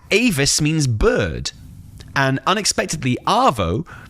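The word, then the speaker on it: avó: And unexpectedly, Avo, pronounced Avor, means grandmother.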